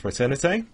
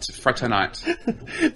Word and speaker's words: fraternité: is motto which is liberté egalité a and fraternity I think you mainly right egalité fraternité they were very Pokemon they were very liberal